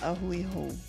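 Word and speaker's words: a hui hou: Auiho. Aiho.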